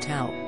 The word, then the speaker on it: Theo: For example, Theo in Spain is pronounced Tao, so it can be complicated."